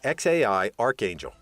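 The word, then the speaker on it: X Æ A-12: the parents named him xae a12 musk finally pronounced by his mother as xai archangel officially the name was changed to xae because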